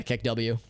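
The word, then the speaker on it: KeKW: Yeah, I say the Kek part out loud than the W, or maybe Kek W. Yeah, Kek W.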